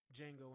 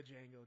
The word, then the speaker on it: Django: They were talking about Django Unchained, which I like to call the Django, just to mess with people sometimes, or just so they can correct me. Like, the D is silent.